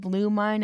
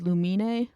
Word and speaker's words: Lumine: For the longest time, I thought instead of lumine, it was lumina cuz that just sounded cooler and it sounded like luminous, which is like moonlike, but it's lumine lumine.